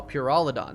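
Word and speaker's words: Pyrholidon: And the kids on the street can get speed and pyrrolidon. Hell yeah. Oh, Purolidon. That's how it's pronounced.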